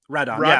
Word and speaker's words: Radon: How's it pronounced? Radon. Yeah. It's the original, like that's how Rodan it is in Japanese. Exactly. I was reading this whole thing about how his name is the original Japanese pronunciation of Rodan.